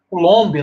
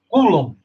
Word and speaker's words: Coulomb: Charles Augustin de cum muitas vezes a gente pronuncia tem uma tendência a portugues e e pronunciar colomb né mas como ele é francês a a melhor pronúncia seria coulumb então é Charles Augustin